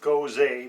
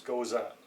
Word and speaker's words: Gose: the beer saltwater sour the style of beer is a Goza you also only hear pronounced goes a but I'm pretty sure the proper pronunciation is goes up the brewery is dildo